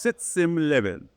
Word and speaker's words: Sitz im Leben: And by the way, there's a German expression, that is pronounced "sitz im Leben," right?